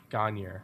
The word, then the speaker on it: Gagner: about local vinyl enthusiast John Gagner about the changing You say his name wrong all the time. Gagner. How do you say it correctly? Gagner. Gagner. It's more French sounding.